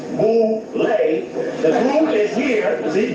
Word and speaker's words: Boule: Known as Boule, pronounced Boule. The group is here. See, Boule, B-O-U-L-E.